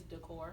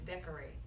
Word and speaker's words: DKOR8: It's Decor. Decor Oh, home. it's Decor cool. I am so sorry. Yeah, just It just, people say decorate. it's 'cause they don't- decorate. Technically, it's decorate.